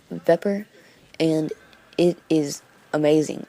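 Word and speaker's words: Vepr: no it's just weird it's spelled weird but it's a pepper and it is amazing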